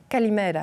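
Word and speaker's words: Καλημέρα: Kalimera. Bon, lui avec la meilleure prononciation.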